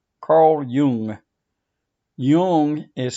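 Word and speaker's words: Jung: to uh present to you a name Carl Yung Yung is spelled j n but it's pronounced Yung I think he was Swiss doesn't really matter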